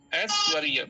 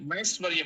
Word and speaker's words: ऐश्वर्य: अच्छे से पढ़ लेंगे यहां म पे मैश्वर्य नहीं लिखा है म में ऐ की मात्रा है मश्वर्य मतुुलम अब मातुलम